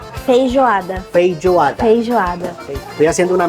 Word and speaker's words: Feijoada: Fran nos está haciendo la recomendación Agora tem aqui, ó, la feijoada, que esos son que é o frijoles. feijão preto. ¿Cómo se Feijão. pronuncia? Feijoada.